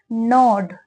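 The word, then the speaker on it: gnawed: एंड नॉड the hunters net, एंड का मतलब और, नॉड ये क्या वर्ड है, नॉड, इसमें जी साइलेंट होता है, जी क्या होता है, साइलेंट होता है।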